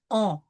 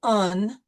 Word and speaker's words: un: So we will pronounce on. The U through the nose, the nasal U. We won't say un, we will say on.